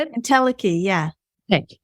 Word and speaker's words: entelechy: Entelechy, is that how you say it? Entelechy, yeah.